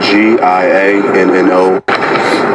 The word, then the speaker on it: Giano: spelled G I A N O.